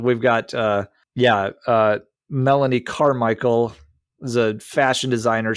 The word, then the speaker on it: Melanie: I don't know because Melanie remember it rhymes with felony right uh yeah